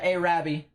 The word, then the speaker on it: Arabi: little bit larger um you said Arabi was how it's pronounced yeah Arabi that's what they said heading up towards your